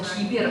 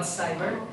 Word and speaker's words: cyber: And when you pronounce the word cyber, not kiber, I understand that in Russian we say cyberbullying, cyberprostranство, yeah, but cyber.